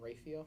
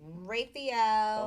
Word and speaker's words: Raphael: michael real and raphael i heard someone pronounce it rayfield and i was like raphael i like that but